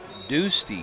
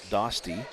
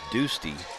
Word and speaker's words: Doosty: It's pronounced Doosty for the Mustangs instead of Dosty. It's Doosty.